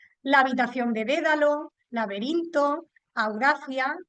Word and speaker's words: Audacia: habitación de Dédalo, lainto, Audacia, que es la mía, o Audaquia, si la pronunciamos en latín.